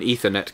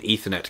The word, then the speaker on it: Ethernet: We were discussing said product, and I was referring to it as an Ethernet cable, because as far as I'm concerned, the word ether is pronounced ether.